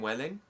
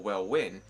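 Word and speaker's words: Welwyn: I said I was up in Welling now that is spelled w l Wy n which can obviously be mistaken for well win and I fell out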